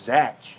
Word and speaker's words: Zach: zach it was z-a-c-k now everyone's z-a-c-h that's zach does no one know how to spell does no one know how to pronounce words anymore that's pronounced zach no offense that jeff